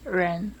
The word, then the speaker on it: Ren: what's your last name Reen is pronounced as uren uren yes okay so according